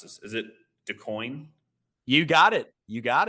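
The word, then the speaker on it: DuQuoin: um and I'm G to mispronounce this always mispronounce this is it decoin you got it you got it all right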